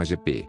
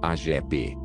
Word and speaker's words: Agepê: Porfírio mais conhecido como Agepê 30 de agosto de 1995 foi um cantor e compositor brasileiro o nome artístico vem da pronúncia fonética das iniciais do nome de nascimento do cantor Agepê antes da fama trabalhou